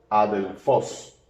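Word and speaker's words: ἀδελφός: aquí tenemos a j adelfos tiene espíritu suave y por tanto eh No se pronuncia la aspiración Así que la Alfa suena eh Como un sonido de Alfa puro a adelfos bien y este es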